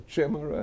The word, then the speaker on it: chimera: A chimera. Yeah. Yes. I never knew how to pronounce that English word.